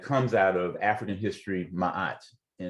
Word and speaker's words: Ma'at: And there's a fundamental concept that comes out of African history, Ma'at, and it's spelled M-A-A-T.